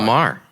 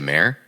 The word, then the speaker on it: Maher: show it's Bill Bill Maher what did I say mayor yeah you said like okay like like the female horse like the female horse